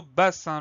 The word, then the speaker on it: bassin: Alors le son 1, il peut s'écrire de plusieurs manières. Celui-là s'écrit avec un I et un N. On retient ça. Et on a bien deux S au milieu du mot pour obtenir le son S, parce qu'on a deux voyelles, le A et le I de part et d'autre.